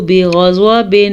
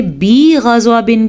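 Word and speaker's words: بِغَضَبٍ: فباؤ بغضب علی غضب بغضب علی غضب غین کو پر پڑھیں گے، زوات کو پر پڑھیں گے، با کو نہیں کھینچ کے پڑھیں گے کیونکہ با کے نیچے زیر ہے۔ اگر ہم نے بی غضبن کیا تو غلطی ہو جائے گی۔ اظہار کا قاعدہ ہو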